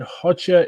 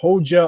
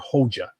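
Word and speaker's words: Hoxha: just for your information hota is pronounced HOA or hja Albanian has a bit of an unusual way of spelling some things so thank you what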